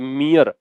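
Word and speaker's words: mere: या जस्ट ठीक है इसका प्रोनंसिएशन जो है ना वैसे बनता है मी ए और फिर रे जो है वो आपको साइलेंट रखना है लंबा खींचना है तो मियां मियां सस्पिशन ठीक है और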